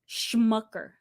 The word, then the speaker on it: Schmucker: yeah the Smuckers but these people are called Schumacher no what is spelled like that s-c-h Schmucker oh I didn't know